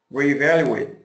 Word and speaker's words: reevaluate: you say this word reevaluate yeah great job this is tough everybody you need to say re it's got you gotta have that schah re re-evaluate excellent job one more time